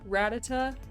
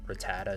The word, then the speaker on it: Rattata: what do you say rattata i say rattata i say rattata yeah i used to say it like that and then i heard rattata somewhere and i was like that rolls off the tongue a little he's just